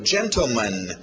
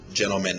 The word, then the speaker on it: gentleman: Continuando, gentleman. Tivemos lady e ladies, né, senhoras. Então, agora, gentleman. Pronúncia rápida geralmente vai tirar esse T. Gentleman. Gentleman, né, cavalheiro, o plural, gentleman. Gentlemen.